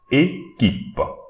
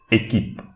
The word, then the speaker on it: équipe: QU, we have to read it K. Équipe. Don't pronounce the I at the end, but instead pronounce the P. Équipe. Équipe.